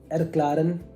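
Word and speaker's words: erklären: I clear है ना बहुत लोग को ये प्रोनाउंसिएशन में दिक्कत होता एरक्लारन एरक्लेरन एक ए जब आता है तो ऐ करके आते हैं।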